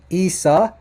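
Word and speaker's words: عيسى: isa isa not isa listen carefully to the pronunciation would have to be it now this will be isa isa and and it's not risa listen to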